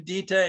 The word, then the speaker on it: Dieter: And Dieter, my first name Dieter, is like Peter, only with a D at the beginning.